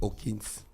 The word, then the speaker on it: Hopkins: a un auditeur qui a dit qu'on ne prononce pas le P. On dit Hawkins. C'est lui qui a fait l'anglais, là, le diplôme dedans. Bonjour le grand. Anthony Hopkins. Donc on ne prononce pas le P. Hopkins.